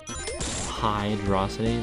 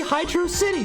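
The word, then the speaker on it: Hydrocity: you're actually falls hydrosity like it just sounds dumb like why would you pronounce it like that I don't know it's a city underwater it should be Hydro City damn it it's only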